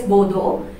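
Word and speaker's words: boudoir: It is pronounced as bodo.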